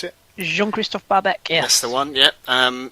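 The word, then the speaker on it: Bahebeck: Against the run of play, they only had 1 or 2 chances, but your boy Barbeck, is that how you pronounce it? Jean-Christophe Barbeck, yes.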